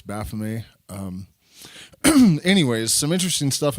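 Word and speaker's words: Baphomet: lot of people say B met but the T at the end of a word in French is silent so it's Baff um anyways some interesting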